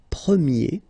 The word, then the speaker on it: premier: change quite much because if you think about the masculine form you pronounce it prier okay prier and then for the feminine form you will get Premier okay so it's open this a sound Premier prier prier and then second example